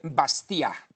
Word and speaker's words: Bastiat: francés llamado r frederic bastiat bastiat se escribe con b alta federico bastia es lo que se